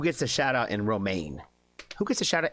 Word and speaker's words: Romaine: got us checking out Romaine. I said it right this time because I do know it's like the lettuce.